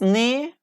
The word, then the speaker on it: knee: And here, it means knee, plural knees. Like silent K here we have. Yes, like we don't pronounce K. Like we pronounce just N, knee, knee.